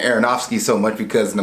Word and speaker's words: Aronofsky: And the reason I keep saying Aronofsky so much because in the movie Mother, I messed his name up badly.